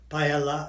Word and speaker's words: paella: Paella.